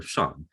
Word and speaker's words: Shang: i would tell people it rhymes with swan like the bird except just add a g of that ing at the end and it becomes swam or shan and so a lot